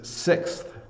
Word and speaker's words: sixth: to say this is sixth so I think this one's hard to pronounce because you say six and the th sound is very very difficult uh for some non-english speakers um and so sixth